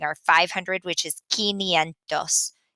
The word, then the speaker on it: quinientos: And the two that we're really having a hard time with pronouncing are 500, which is quinientos, quinientos, and 900, novecientos.